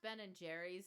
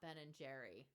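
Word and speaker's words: Ben & Jerry's: Not only that, but it's and it's pronounced Ben and Jerry's, not Ben and Jerry.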